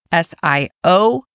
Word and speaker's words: Sioux: S-I-O-U-X is the name of the tribe.